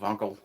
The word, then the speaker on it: Wankel: Kizza tells me that I should be pronouncing Wankel with a V as it's German, so Wankel.